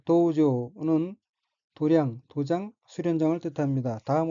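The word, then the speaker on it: 道場: 첫째 줄의 어휘는 한자가 한국어로 도장이고 각기 길도자와 마당장자이고 일본어로는 도우조라고 읽으며 도우조는 도량, 도장, 수련장을 뜻합니다.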